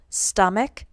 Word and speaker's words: stomach: the one exception is when the CH at the end of the word is pronounced like a K for example stomach stomachs for nouns ending